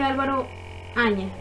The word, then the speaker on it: Alvar Fáñez: ¿Por qué dije Álvaro Áñez? Porque Álvaro Áñez también, o sea, Alvar Fáñez también se le podría, o se conocía como Álvaro Áñez, o sería como su pronunciación en español.